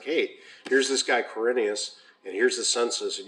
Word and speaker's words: Quirinius: in 86 coordinate carinia i keep on to say cyrenius because that's how we learned it right from luke 2 when we were kids so it's quirinius is the way it's spelled now in the esv he became imperial leggett